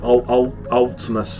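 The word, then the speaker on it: Vltimas: Ultimus or something like that, with a silent V.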